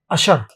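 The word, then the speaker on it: usher: इसका हिंदी में प्रोनाउंसिएशन आप कह सकते हैं अशर।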